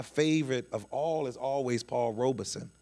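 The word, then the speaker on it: Paul Robeson: That's why my favorite of all is always Paul Robersonson or Paul Robesson, which I just found out today is that's how you actually pronounce his name because he talks about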